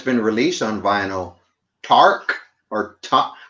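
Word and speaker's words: THRAK: been released on vinyl tark or top i used to say tank but i think it's tark how do you spell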